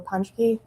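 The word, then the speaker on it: Ponschke: Please uh state your name and spell it for the record. My name is Punchky.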